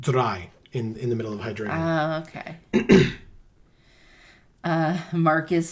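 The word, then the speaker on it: Hydreigon: I always pronounce it Hydragon because it's dragon.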